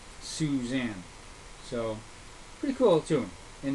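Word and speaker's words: Sioux Zan: And the tune that we used is actually called Suzanne, but it's spelled Sioux space ZAN, Suzanne.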